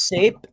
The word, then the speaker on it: SAPE: Yeah, it rhymes with cape. Yeah, I've used SAPE a lot of times,